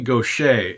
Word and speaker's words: Gauthier: Her name is Mary Gaucher, and it's spelled, I think she's from Louisiana, probably Cajun country. It's Gauthier. Somehow that spells Gaucher.